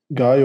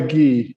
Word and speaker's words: Guy: I always prefer ghee.